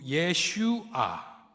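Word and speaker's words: ישוע: 아히 이렇게 예슈 예슈아 이렇게 되어 있습니다. 구원이란 단어는 히브리말로 예슈아입니다. 여기서 많이 들어본 이름인데 여호수아라는 말이고이 예슈아는 예수님의 히브리식 발음입니다.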